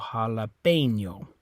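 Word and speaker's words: jalapeño: don't say tortilla okay same rule on this one ends with an O and ends with the vowel so stress on the second last syllable second last vowel which is that e which remember in Spanish you say a so jalapeno okay so it's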